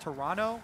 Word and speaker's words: Toronto: All the options are open to them as they prepare to head to Toronto. I was told actually by a tweet, it's pronounced Toronto with no T.